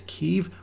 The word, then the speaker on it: Kyiv: The capital and largest city is Kyiv, with a population of about 3 million. The city used to be referred to as Kiev, Kiev, but that is the Russian spelling and Russian pronunciation of the name.